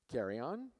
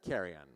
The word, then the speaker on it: Carrion: Kali Phillips Kylie Johnson carry on is that right let me say let me say it right carrion Natalie Martin Noe lens